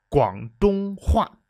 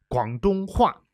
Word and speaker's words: 广东话: It would be the proper way to say it, but if you wanted, you could say 广东话, 广东话, because Guangdong is the province where everybody speaks